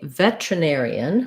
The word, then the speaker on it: veterinarian: isn't it air so i either say veterinarian which it sounds like vet vet trust um nair with the stress on the air syllable in the air diphthong